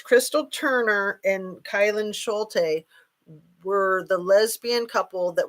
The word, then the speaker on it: Kylan Schulte: Kylan Schultz, I think is what I said. So you guys might know those names. Crystal Turner and Kylan Schulte were the lesbian couple